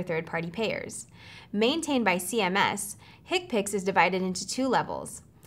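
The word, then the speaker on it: HCPCS: characters long and may be numeric or alphanumeric hick picks Healthcare common procedure coding system pronounced higpicks this is the main procedural code set for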